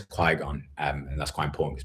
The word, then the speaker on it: Qui-Gon: She doesn't know Star Wars at all, so sometimes she gets the pronunciations wrong. And she was like, Qui-Gon? And I was like, it's Qui-Gon.